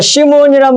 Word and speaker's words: 시몬: 여기서 시몬이란 말은 히브리 말로 시므온에서 온 헬라적 발음이지요. 이게 원래 시므온인데 헬라 발음으로 시몬 그런다 그 말이에요.